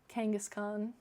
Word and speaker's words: Kangaskhan: for like this is how I would just phonetically write them out Kong or Kang um obviously it's still spelled Kong but like but with an a you know no e you know would be cool